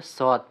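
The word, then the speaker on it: صاد: মাখরাজ মানে বলা হয়েছে জিহ্বার আগা সামনে নিচে দুই দাঁতের পেট আগার সঙ্গে লাগাইয়া সদ সিন ঝা।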